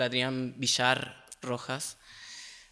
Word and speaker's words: Adrián Villar Rojas: this person who's called Adrian bishar roas uh that's Argentinian way to pronounce my name um and yeah